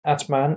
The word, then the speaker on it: Atman: hmm atman and kundalini lecture the word adman pronounced as atma in sanskrit is interpreted as the